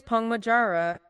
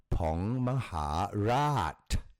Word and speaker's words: Maharat: You gave us Pong Majara. Oh, go for it. No, the last 2 you got wrong. The last 2 is, so the fourth one, Pong Itije. And the fifth one, Pong Maharat.